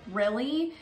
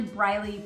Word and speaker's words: Briley: Again, GPSs can call it Brilly, but it's actually Briley Parkway.